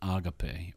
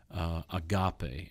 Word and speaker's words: agape: In this case, the word is agape, or agape, as some people would pronounce it.